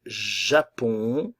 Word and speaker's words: Japon: le Danemark le Danemark le Japon la nasale on le Japon le Portugal attention le